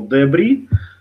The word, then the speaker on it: debris: So debris, and S is silent, but it's wrote like debris.